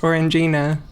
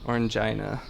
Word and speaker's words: Orangina: orange purple and oh is that how that's pronounced Orangina Orangina I always felt weird like embarrass getting that